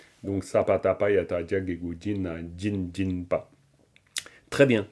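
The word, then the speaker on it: སྦྱིན: Vous voyez bien le jin sabatabayata jagegu jin à jin. Ça se prononce vraiment jin et non pas chin à cause du sapatapayata.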